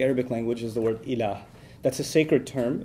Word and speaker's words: ilah: which there's the term ilah. If you want to write that in English, it would be I-L-A-A-H, ilah. It's pretty easy to pronounce in English, okay?